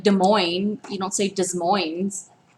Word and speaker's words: Des Moines: by the way Schaumburg Illinois cz's don't ever pronounce the S at the end of Illinois it's like Des Moines right I was dealt with okay Des Moines I've heard people say does Moines this planes do you say DesPlaines isn't a